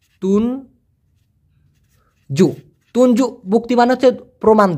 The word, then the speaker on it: tunjuk: তুঞ্জু বুক্তি যদি বলা হয়, তুঞ্জু, TUNJUK, উচ্চারণটা হবে তুন জু।